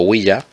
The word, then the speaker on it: ouija: con diéresis y jota o ouija pronunciado huella es un tablero dotado